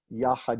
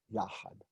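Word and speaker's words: יחד: Notice, yachad is not yachad. It's the stress is on the first syllable, not the second.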